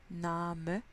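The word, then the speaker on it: Name: nam east c'est important de tout prononcé en allemand donc na me il faut entendre le e à la fin vie guide si un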